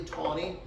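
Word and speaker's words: Taney: This man named, that's pronounced typically Tawney, Supreme Court Justice Tawney,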